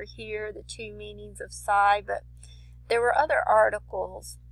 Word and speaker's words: psi: You can see this is the letter psi, or actually it's pronounced psi in the Greek, but it says it's often used to represent the study of psychology.